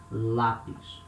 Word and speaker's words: lápis: For example, at the beginning of a syllable, lápis, it means pencil. So here we have letter L with a similar sound as the letter L in lie, for example, this L sound, lápis. It's a very similar sound